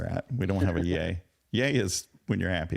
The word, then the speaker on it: Ye: new Happy New Year it's pronounced yay thank you very oh